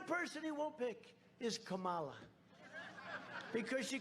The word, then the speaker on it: Kamala: to interrupt him no my name's kamala like comma i remember that like a comma right h1n1 that's right